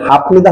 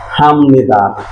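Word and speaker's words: 합니다: দ আদা হাম নিদা তাহলে আমরা এক কথায় বলতে পারি বিয়ের পরে নিয়ম থাকলে বিয়টা ম হয়ে যাবে একটু মুখস্ত করেন বিয়ের পরে নিয়ম থাকলে বিয়োগটা কি হবে ন হয়ে যাবে তাহলে উচ্চারণটা কি হাফ নিদা হবে না হাম নিদা হবে হাম নিদা পুরা বইয়ের মধ্যে এই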